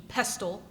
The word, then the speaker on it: pestle: Like I always pronounce the T in pestle.